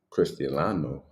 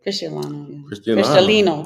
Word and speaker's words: Cristalino: So we'll show, if I can show it, some Patron Cristiano. I guess that's how you say it. Cristalino, yeah.